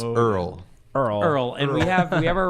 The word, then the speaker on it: URL: is pronounced Earl.